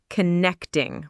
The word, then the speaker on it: connecting: The pronunciation of connecting is connecting with the stress on the second syllable.